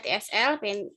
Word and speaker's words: TESL: kemudian Master of Art TESL ya Bun, bacanya TSL Pennsylvania State University, kemudian Doctor of Philosophy Education University of London.